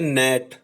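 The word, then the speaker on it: gnat: अब हमने कुछ और साइलेंट लेटर वर्ड बनाने हैं, जैसे जी से ZNAT होता है नेट।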